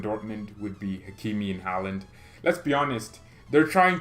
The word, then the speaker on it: Haaland: Why British people say Haaland is Holland? Well, I don't know. It's just how you say it. But Haaland, the A is there.